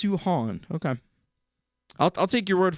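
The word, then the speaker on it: Samhain: i think um oh and vincent says it's pronounced suhan okay i'll take your word for it i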